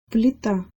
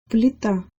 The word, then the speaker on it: плита: Плита. Плита. Плита. This word has a soft l in it, followed by an e.